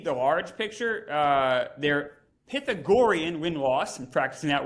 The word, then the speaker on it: Pythagorean: for that word yeah say it like I would say it Pythagorean like it's a Chicago word pathetic there you go that's